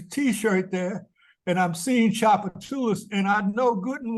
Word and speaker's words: Tchoupitoulas: look at it and in English it looks one way but you say it a different way so for instance in